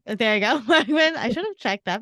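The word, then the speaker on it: Wegman: for iconic artist William is it I never pronounce this right William Wagman there you go Wagman I should have checked that before but that's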